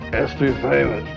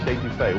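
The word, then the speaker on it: étouffée: I want some estouffee crawdads. What Bubba's trying to say is crawfish etouffee, one of our most popular Cajun dishes.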